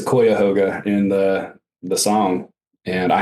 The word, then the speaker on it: Cuyahoga: So I'll say, as someone who lived in Ohio for a couple of years, he mispronounced Cuyahoga. How does he say it? He says Cuyahoga in the song, and I had to stop and go look it up.